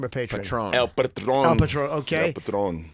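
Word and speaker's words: El Patrón: Is you are fighting Alberto El Patron? Is that how you say his name or Patron? Patron. El Patron.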